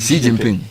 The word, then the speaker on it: Xi Jinping: Haven't seen the memes that Xi, how do you pronounce it? Xi Jinping.